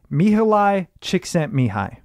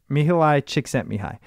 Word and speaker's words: Mihaly Csikszentmihalyi: Okay, so I actually think I know how to pronounce it because I've referenced this a few times, and it's Mihaly Csikszentmihalyi. Yeah, what he said. I'm pretty sure that's it. Mihaly Csikszentmihalyi.